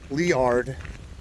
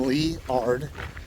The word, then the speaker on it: Liard: lot and this is leard I was told to pronounce it like the name leard so if someone says you pronounce it wrong well that's what I was told leard Hot Springs uh five